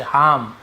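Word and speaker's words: harm: हार्म, ये भी हार्म, ठीक है, हार्म ऐसे हार्म, नुकसान पहुंचाना, ठीक है, हार्मफुल नुकसानदायक, तो वही है, आर थोड़ा सा साइलेंट होता है।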